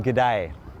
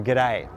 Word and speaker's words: g'day: what we do is we reduce those two words into really just one so the good becomes good and the day stays there and we say g'day and when you add